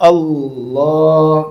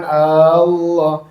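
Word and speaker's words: الله: Huruf ' A' tidak panjang, langsung ke "Allah", jangan diucapkan "Aaa-llah". Nah, hati-hati dengan itu.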